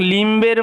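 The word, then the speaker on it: limb: অনেকে এই ল্যাম্প এবং লিমের লিমের মধ্যে একটু সমস্যা পড়ে যায় এল আই এম বি এই এটার উচ্চারণটা হচ্ছে লিম লিম মানে হচ্ছে অঙ্গ ঠিক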